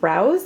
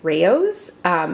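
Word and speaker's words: Rao's: Also, I saw something the other day that said that it is not pronounced Rouse, it's Raos, and I just cannot get my head around that.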